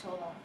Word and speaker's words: Chola: It's chola. Chola? That was pretty close. But it's actually pronounced chole.